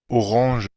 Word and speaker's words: Orange: pronunciación que está acá orang orang orang orang notamos que usan el el shua están usando el sha todas al final y no una e no como es y están usando el or Okay vamos a ver